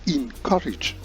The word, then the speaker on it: encourage: The next one is correctly pronounced encourage, not N, but in.